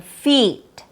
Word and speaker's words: feet: Long E like in feet, like in the word F-E-E-T. It has a long E sound. E, feet.